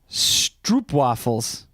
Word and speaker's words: stroopwafels: And last but not least, of course, stroopwafels. Pronounced the O here as pro.